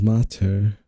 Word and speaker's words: mater: Pronounced mater.